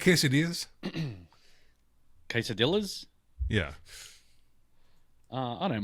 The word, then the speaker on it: quesadilla: So, if there's a double L, it's it's pronounced with a Y.